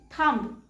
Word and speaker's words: thumb: Thumb. And the correct pronunciation is thumb. B is silent here.